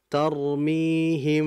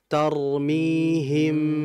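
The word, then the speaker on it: ترميهم: Ya, tadi sebagaimana saya contohkan, tarmihim, bukan gitu. Yang betul tarmihim. Rapat saja udah bibirnya, nggak usah ke dalam gitu ya.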